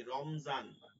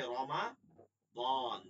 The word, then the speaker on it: রমাদান: রমজান। আমরা বাংলায় বলি কি? রমজান। এ রমজান কিন্তু আরবি শব্দ। এটা আরবিতে গেলে কি হবে? রমাদন।